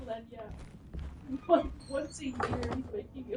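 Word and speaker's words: lagniappe: Google someone saying it, because it's definitely not gonna sound like the white Google man going, Lagniape. Do YouTube. How to pronounce.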